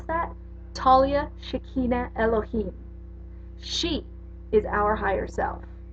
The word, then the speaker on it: Shekinah Elohim: Shekinah Elohim you want to know how to pronounce that Talia Shekinah Elohim she is our higher self and she's the